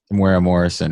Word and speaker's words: Temuera Morrison: Temuera Morrison, and that was him in the episode.